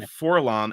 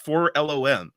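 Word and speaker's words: 4-LOM: assume my own pronunciation another good example is foram the Bounty Hunter Droid growing up I always said forom and apparently it's pronounced for L this is a completely yeah uh caught me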